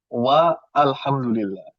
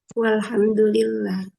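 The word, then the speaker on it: والحمد لله: Makanya ibu bapak ketika baca bacanya walhamdulillah atau wa alhamdulillah walhamdulillah bacanya bacanya wal asr atau wa al asr. Wal asr.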